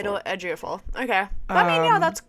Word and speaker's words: Ejiofor: And also I'm not gonna be able to pronounce his name. Good luck, because I don't know how to either. Chiwetel Ejiofor.